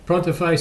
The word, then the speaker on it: Pronterface: as and that's pron like printer with an O pronterface software then there's also